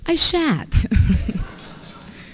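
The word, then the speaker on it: Aishatu: So you would think it's pronounced Aisha too, but it's actually pronounced Aishat.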